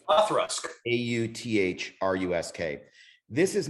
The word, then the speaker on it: Auchroisk: It's pronounced Authrusk. like Autrusk.